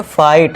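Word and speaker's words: fight: फाइट। एफ आई फाई कर दिया। जी H silent है।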